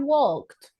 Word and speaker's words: walked: For example, I have walked. What is the pronunciation for walk?